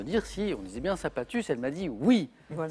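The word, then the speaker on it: Saint-Pathus: Voici Michel de Saint-Patus avec un S qui se prononce.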